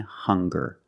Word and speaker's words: hunger: also we have these two words hungry and hunger they also make the same sound with the nasal sound and the hard G hunger hungry remember the difference hungry